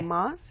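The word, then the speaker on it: Saamis: Samas is Okay. the way you pronounce it in Blackfoot, and literally means medicine man's war bonnet.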